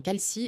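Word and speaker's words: Kalshi: Au fait, calci sponsorise cette application et ils sont la plus grande bourse de prédiction aux États-Unis.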